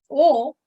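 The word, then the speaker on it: を: as wah and this we pronounce it as o but it is written when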